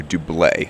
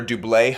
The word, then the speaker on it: Doublet: are walking up to Doublet, which I've recently learned does not use the hard T sound at the end. It's not doublet, it's Doublet.